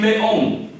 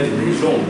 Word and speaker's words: les hommes: So it is coming in between vowel, therefore it will give Z sound.